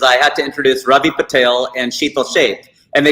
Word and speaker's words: Patel: It's Patel. And I've had Patels tell me it's Patel. I'm like, you are wrong. It is not Patel. It's Patel.